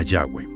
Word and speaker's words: Yahweh: Concluyen que lo más probable es que sonara algo parecido a Yahweh.